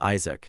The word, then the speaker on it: Isaac: My name is Isaac, not Isach, as you keep saying.